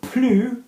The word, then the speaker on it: plus: But plus, still with the no S pronunciation, if it's before an adjective, yeah? So, plus sympa, nicer. Even though it's more nicer, we still said plus.